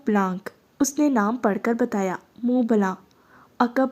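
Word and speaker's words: Mont Blanc: होने लगी मंट ब्लांक उसने नाम पढ़कर बताया मुंह बला अकब में घम गीर सी आवाज में कुछ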